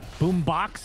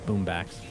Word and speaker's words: Boombax: He will take an open wound to the face, but Boombox, as we like to... Oh, I'm sorry. Boombax. Trent actually infected my mind. It is Boombax.